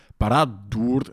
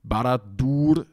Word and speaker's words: Barad-dûr: a double consonant, and it would have to be Barad-dûr, and that just sounds stupid to me. It has to be Barad-dûr, and that means we